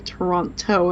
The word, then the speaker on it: Toronto: these people like oh how do you say the city that we're in and they're like a Toronto and they're like no uh it's Toronto and they're like why